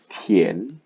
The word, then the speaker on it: 田: Nah, huruf ini memiliki cara baca tian, nada 2, tian.